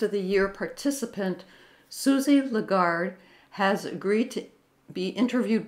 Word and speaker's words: Lagarde: I'm so lucky because Susie legard lagar did I say it correctly at all you said it well lagard yes that's brilliant all right